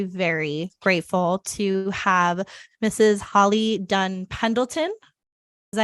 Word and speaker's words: Holly Dunn Pendleton: Holly Dunn Pendleton.